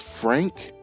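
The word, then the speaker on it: Phranque: So from the trailer, I understand that it's pronounced Frank. But it's spelled p h r a n q u e and that's the cosmic cube.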